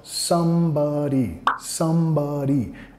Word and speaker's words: somebody: feel like December, when, acá nota en el inglés hablado, somebody, acentuando la primera sílaba. Pero acá, y como las cosas a veces cambian en canciones, enfatizan sílabas diferentes, palabras diferentes de lo normal para quedar bien con el ritmo de la canción. Él enfatiza somebody, la segunda sílaba, ¿ya?